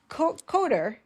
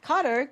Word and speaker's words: Cottor: My guest today is Co Coder. Am I pronouncing it correct? Carter, pronouncing it correctly.